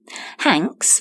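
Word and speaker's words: Hanx: and women and their vegan reports Business Insider hank's which is spelt Haan X is the brainchild of gynecologist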